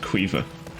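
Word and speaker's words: Caoimhe: It's spelled C-A-I-O-M-H-E. Cuivna. Or some people will pronounce it Cuiva.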